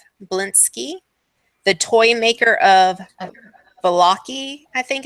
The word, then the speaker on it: Vallaki: The doll was made by Gadolf, Gadof Blinsky, the toy maker of Valaki. I think it's Vallaki. And I apologize Oh, for pronunciation.